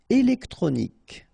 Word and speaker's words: électronique: Électronique, okay, so as we saw previously, Q-U-E at the end, K, okay, électronique, électronique, électronique.